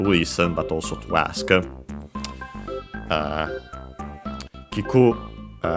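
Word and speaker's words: 聞く: Kiku should be unaccented, and it is.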